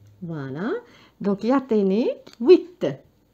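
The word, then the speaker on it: huit: دونك لو اش مع الوي، الاش هو حرف يخرج فقط كهواء، دونك ما ننطقوش وي، وكأني ابتديت الكلمة بالوي، وآخر حرف هو ت. ت. فوالا. دونك يعطيني 8.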